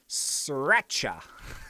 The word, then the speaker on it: sriracha: I've got my marshmallow bee, and the code, I did say it was spicy, is sriracha. Like the sauce, like sriracha sauce. So it's spelled with a R in the middle.